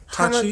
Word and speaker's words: Hachi: There's only 2 syllables. It's Hachi.